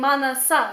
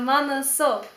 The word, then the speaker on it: 만나서: I was looking back on my last two videos and I was like, I mispronounced the manaso. I was saying manasa instead of manaso.